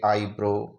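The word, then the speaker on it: eyebrow: जैसे हम इनको देखते हैं, ई आ गया, ई के बाद में वाई आ गया, तो हम इसको आई करते हुए आई ब्रो इसका उच्चारण करेंगे।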